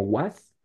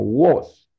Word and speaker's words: was: Recuerden que este was no se pronuncia con a como was, sino con una a cerrada, que se ve como así. Entonces sería como was la pronunciación. Realmente no es con a, sino con una a más cerradita, con was.